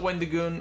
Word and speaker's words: Wendigoon: Beloved YouTuber named Wendigoon, and that's how it's pronounced.